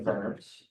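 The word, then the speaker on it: Worms: here the diet of vers right so again vers I know when it comes to German expression or speech and Eastern European a w sounds like a be so whenever you pronounce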